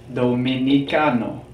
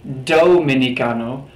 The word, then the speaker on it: dominicano: letters here pronounce are pronounced like the soft th in the word the so not dominicano dominicano dominicano moving back to